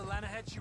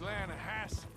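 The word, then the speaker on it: Lannahechee: Yeah, but it's pronounced Lanahassee. Why is everything in English said differently than it's written?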